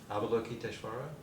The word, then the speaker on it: Avalokiteshvara: Avalokiteshvara. Uh-huh. So look at the word. Okay. The A-V-A-L-O. Avalo. Avalo. K-I-T-S-H. Kitesh. And then V-A-R-A. Vara. Kiteshvara. Kiteshvara. Look at my mouth too.